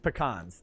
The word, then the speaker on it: pecan: I'm from Texas. It's pecans. That's how it is. That's how you pronounce it.